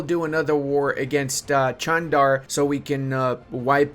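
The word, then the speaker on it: Çandar: all right Lads and I know it's not chandar it's Chand that's how you're supposed to pronounce it he oh we can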